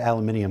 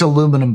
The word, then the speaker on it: aluminum: it's aluminum, by the way. It was discovered in America by an American, and it's pronounced aluminum.